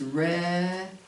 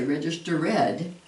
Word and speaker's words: registered: Many students registered. We wouldn't say register read, but we put it just the normal.